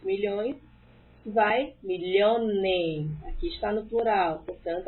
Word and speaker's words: Millionen: Einen Million, 2 milhões, vai Millionen. Aqui está no plural, portanto, atenção com a pronúncia. Einen Million, 1 milhão. Eu quero dizer 2 milhões no plural. Vai Millionen.